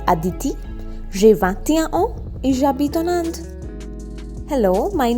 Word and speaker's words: j'habite: H is silent, so j'habite, and then again en Inde, nasal sound, en.